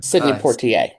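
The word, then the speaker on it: Sidney Poitier: Sydney Port. How do you say his name? Sydney Portier.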